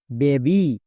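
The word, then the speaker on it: baby: যেমন দেখো বেবি। এবার এখানে একটু ভালো করে লক্ষ্য করে দেখো। শব্দের একদম শেষে ওয়াই আছে। ঠিক আছে? এবার শব্দের মধ্যে কি একটিও ভাওয়েল আছে? যদি ভাওয়েল না থাকে ওয় এর জন্য আই সাউন্ড হবে। আর ভাওয়েল যদি থাকে একটা তাহলে ওয় এর জন্য দীর্ঘিকার সাউন্ড হবে। এখানে দেখো এ ভাওয়েল আছে। একটি ভাওয়েল আছে। তার মানে দীর্ঘিকার সাউন্ড করতে হবে।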